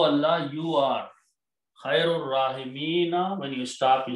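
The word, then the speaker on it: خير الراحمين: When you read together, you do not pronounce this alif. Ar-Rahimina will become Khairur Rahimina. That's the word in the Quran. Anta, O Allah, you are Khairur Rahimina.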